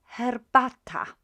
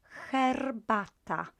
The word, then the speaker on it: herbata: in a brew is herbata herbata herbata so the h in polish is quite soft as in hotel so herbata and the r is pronounced quite strongly here herbata herbata right